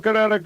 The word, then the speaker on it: Kinetico: you should have remembered kinetic as in kinetic energy with an o on the end, Kinetico.